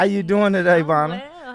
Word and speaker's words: Bonna: It's Bonna. Well, Bonna. Bonna. That's just my Instagram handle, but it's Bonna.